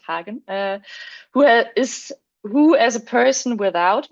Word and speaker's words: Hagen: We have Hagen, which is a German name, so I can pronounce it Hagen, who as a person